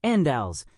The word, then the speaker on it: Andals: crew, Unals is pronounced andals. The emphasis is on the first syllable and the second a clearly enunciated.